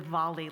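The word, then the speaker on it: Diwali: it is pronounced the valali like it has a v in it just for your information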